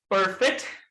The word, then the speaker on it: perfect: And now try to say it like an American. And if you say it correctly, ladies and gentlemen, you'll be able to feel a smack of air on your palm, on your finger.